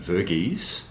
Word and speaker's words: Varghese: a very special guest we're talking to Jim verges correct pronunciation y yep excellent uh Jim is a